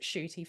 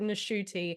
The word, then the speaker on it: Ncuti: he has said that his name is Ncuti Gatwa and that you pronounce it Shooty for many, mm, many years. And then he said apparently at the age of 26, his mother tells him, no, you're supposed to pronounce it Nashuti.